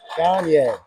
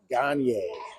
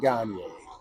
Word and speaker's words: Gier: Gier. I've been pronouncing his name wrong here the whole season. It's uh Gier. Lucian Gier.